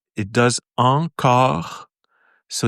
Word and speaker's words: encore: So it's and then, so the sound, it does encore. So it's very subtle. See, the R is very subtle.